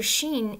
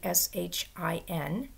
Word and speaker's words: Shin: Now, this letter, if there's a dot above it over here, it's pronounced with a sh sound. And if the dot is over here, it's pronounced with a s sound. So our English, if it's over here, would be sh, sh, and over here without the h, s.